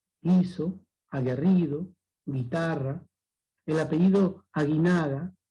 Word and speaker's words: guiso: Guiso. Gui. No se pronuncia la U. Solamente la I.